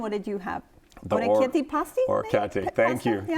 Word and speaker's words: orecchiette: The orecchiette pasti? Orecchiette. Thank you. Yeah. Thank you for helping pronounce it.